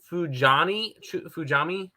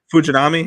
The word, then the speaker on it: Fujinami: I almost pulled the trigger on Fujami. How do you pronounce his name? Fujinami, yeah.